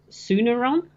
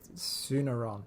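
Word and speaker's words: Tsunaron: But yeah, It's Suneron. Yes, Suneron. It's spelled with a T, but I'm guessing the T is silent.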